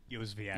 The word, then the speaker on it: Yozviak: Andrew Yozviak. Did I say it right? Yozviak. Yo. We're good. Oh, not ya.